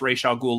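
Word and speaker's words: Ra's al Ghul: and Talia and yes I pronounce racial ghoul like the Batman the Animated Series that's where I learned to pronounce it I don't know what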